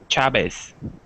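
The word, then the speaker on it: Chávez: a quick CH sound in Argentina the V sounds like a b chabes uh yeah they use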